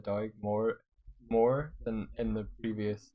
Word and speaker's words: Doig: I think I used to like say Doig, like I didn't emphasize the G in the past. Like, but now I'm like Doig, Doig. It sounds, I guess it sounds a bit better. I just got used to saying my name. Yeah, that sounds like it's what it is. Doig. I guess if you put the G with the M, then it kind of ends better.